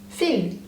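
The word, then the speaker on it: fil: a and thread is Phil so you do pronounce the L at the end pH for example I'm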